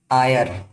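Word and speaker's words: heir: जैसे एन आयर, आयर एच ई आई आर, आयर का पहला अक्षर एच है, जो अंग्रेजी का कॉन्सोनेंट के अंतर्गत आता है, लेकिन इसका उच्चारण आयर हो रहा है, जो हिंदी के स्वर के अंतर्गत आ रहा है, इसलिए इनके पहले एन का प्रयोग होगा।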